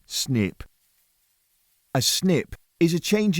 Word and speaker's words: SNP: Let's start with a key concept in pharmacogenomics, the single nucleotide polymorphism, or SNP, pronounced snip.